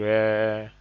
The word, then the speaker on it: re: pronounce these notes this pronounced do do why R is pronounced r m is pronounced me f is